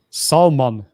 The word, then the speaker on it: Salman: you write his name Salman s a l m a n like s like Soul Man yes yeah to pronounce